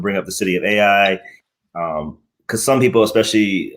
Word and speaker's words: Ai: And also Ai in Jericho or or um Ai and Yeah. Well, there's other cities there. Let me let me correct you because I was corrected in my pronunciation. It's pronounced I.